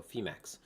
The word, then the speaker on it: Phemex: should know that because phe it's like phoenix right so femax but uh we are